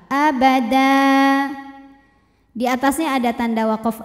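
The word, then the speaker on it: أبدا: abada hukum tajwidnyaad wad jika berhenti karena ada tanwin fathah yang diwakafkan cara bacanya panjang dua harakat abada di atasnya ada tanda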